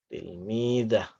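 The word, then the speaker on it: تلميذة: Al-fatatu tilmidah. Tulisannya tilmidatun. Pengucapannya tilmidah.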